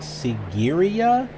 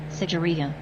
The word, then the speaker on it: Sigiriya: Okay, the location we're going to, I was thinking was like Sigiriya. Let's see if that's correct. Sigiriya. Sigiriya, okay.